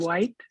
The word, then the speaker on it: Whyte: the house of belonging did you say his name was david white yes and it's spelled w-h-y-t-e so that's basically the